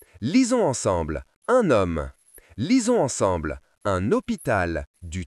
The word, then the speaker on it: homme: C'est la lettre H. Elle ne fait aucun son. H comme dans le mot homme. Lisons ensemble un homme.